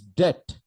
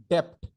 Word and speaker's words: debt: Don't pronounce as depth. Many people pronounce as depth or depth. It is not depth. The B is silent. The B is completely silent.